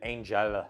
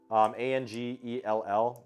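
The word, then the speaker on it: Angell: But Angel, A-N-G-E-L-L, so Angel, but with an extra L, so Angel, I believe that's how you pronounce it.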